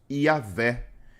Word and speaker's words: Yahvé: Para quem não sabe, o nome original na escrita é um tetragrama que é quase impronunciável. Por isso que na transliteração falamos Yahvé.